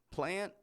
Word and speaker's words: plant: listening likely knows that those words are spelled with a t on the end p n t i don't pronounce that T I totally drop it off not only do we drop the T but we also pronounce the N much shorter than our regular n Sound notice I don't say